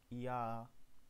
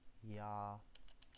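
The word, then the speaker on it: ja: هذا الحرف إي وهذا الحرف ينطق ب يوت، هذا الحرف ينطق ب يوت، مثال هي يا باللغة الألمانية يا. دائما عندما ترون هذا الحرف أو تقرؤونه فهو ينطق ب يا اليوت.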